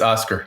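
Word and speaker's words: Oskar: Sorry for pronunciations. That's Oscar.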